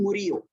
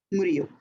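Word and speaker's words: Murillo: Pame I I can't B whatever I can't pronounce his name. Esteban is the second name. Estban Murio. M U R I L L O. I repeat M U R I L L O. Murio.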